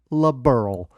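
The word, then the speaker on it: Liberl: it's spelled l-i-b-e-r-l and then the mural they pronounce it la burl that's like they made that word for me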